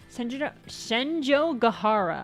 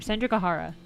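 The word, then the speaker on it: Senjougahara: Senjo Gahara. I keep having trouble pronouncing her name. Senjo Gahara.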